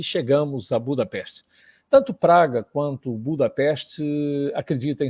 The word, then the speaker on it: Budapest: Quem não conhece Budapeste, todo mundo pronuncia o nome junto, e é pronunciado junto, mas, na verdade, são 2 cidades.